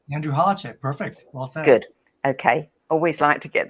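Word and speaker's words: Holecek: this first thing I must ask am I pronouncing your last name correctly Andrew hardship perfect good okay I always like to get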